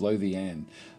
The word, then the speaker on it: Lothian: And Carrie Munch is saying Lothian is pronounced as Lothian. Lothian.